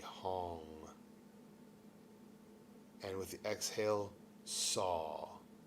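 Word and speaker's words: Sau: And with the exhale, saw. It sounds like saw, like S-A-W, but we spell it S-A-U.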